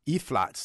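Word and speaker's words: Ephalts: caller who said that it's not E-flat, F-flats, it's E-flats, the singing group E-flats, E-P-H-A-L-T-S, E-flats, E-flats. So the P is silent. The P is silent there as well.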